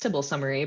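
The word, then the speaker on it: tbl_summary: the details of the table summary function some might say this is pronounced tibble summary but i still say table it's a little old-fashioned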